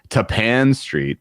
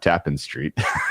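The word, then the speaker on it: Tappan Street: It's Tapan Street, not Tapen Street. I don't understand why Ta Pan is Tapan like rhymes with Japan, but be it.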